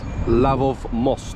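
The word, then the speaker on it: Лъвов мост: Where I am right now is a place called Lion's Bridge, which in Bulgarian is pronounced Lavov Most, and it's a stone arch bridge which crosses the Vladayska River.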